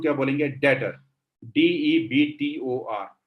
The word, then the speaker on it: debtor: डेटर, DEBTOR। इसे डेप्टर नहीं बोला जाता, कई लोग इसे डेप्टर बोलते हैं, गलत इंग्लिश है, बी साइलेंट होता है, डेटर्स।